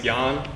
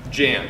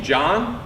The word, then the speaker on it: Jan: So one time, they called me John because I think they thought I spelled my own name wrong.